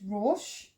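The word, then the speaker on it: ראש: The dot to the top left is the O vowel, so sounds as O. So ro. The aleph is silent, so you look to the next letter, which is the sheen, which is sh. There's no vowel underneath, so it closes, so it's rosh.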